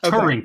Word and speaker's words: Turing: Yeah, Turing, okay. Turing, Turing.